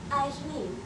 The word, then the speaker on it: Aisling: Actually, it's Aisling. I prefer the modern pronunciation. Aisling.